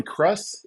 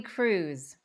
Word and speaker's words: Krus: me yeah of course is it uh crust is that how you say it Cruz Cruz oh man like that